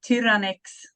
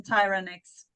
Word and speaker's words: Tyranex: In Sweden, we say Tyranex. Okay, but outside Sweden, Tyranex.